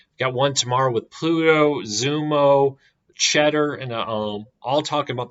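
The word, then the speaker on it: Xumo: of Philo, and Zumo, which I guess this is pronounced Zumo. My apology. I've been pronouncing it Zoom for the last year.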